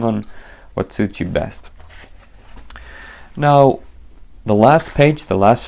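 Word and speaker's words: 円: coins in Yen here we have round and yen but we pronounce it n in Japanese so yeah simple 17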